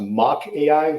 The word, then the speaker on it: Mach AI: your for reference uh the companies pronounced mock AI suest Mo AI mock